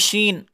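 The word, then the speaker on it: شين: good next sh sh not she it is Sheen I said to you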